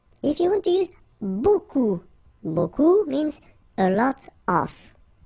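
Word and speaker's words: beaucoup: Remember, you don't pronounce the final p. Okay. And then you get this combination of vowels uh a and you get the sound o.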